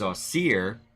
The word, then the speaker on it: Wsir: Egyptian name for Osiris the Egyptian name for Osiris is austere spelled wsir and he was